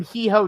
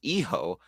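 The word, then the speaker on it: hijo: of havoc he gave them he told him he ho day havoc which is technically still accurate but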